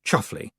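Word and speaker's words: Chumsfanleigh: Roland Duchum's family pronounced chuffly.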